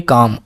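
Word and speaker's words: calm: इसमें आप एक चीज़ देखिएगा, यहाँ पे एल लगा हुआ है, लेकिन एल हमने नहीं पढ़ा। एल का प्रोनाउंसिएशन नहीं होगा, ठीक है ना। इसको हम पढ़ेंगे काम।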